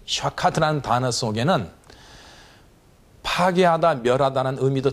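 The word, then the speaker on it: שחת: 이 동사는 히브리어로 샤카트, 이렇게 발음을 합니다. 샤카트.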